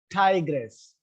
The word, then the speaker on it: tigress: But if you look at the same word with the ESS as suffix, still the stress is on tiger. Tiger, tigress.